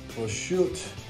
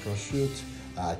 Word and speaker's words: prosciutto: good for you, is prosciutto. And my Italian friends, I'm not Italian, but my Italian friends have told me this is prosciutto. It's not pronounced prosciutto.